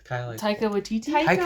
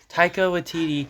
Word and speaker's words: Taika Waititi: Taika Waititi. Taika. Sorry. Taika Waititi.